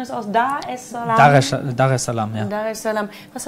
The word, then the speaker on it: Dar es Salaam: Ja, also wir haben gesehen, abenteuerlich war es da in wie spricht man das aus? Dar es Salaam? Dar es Salaam, ja.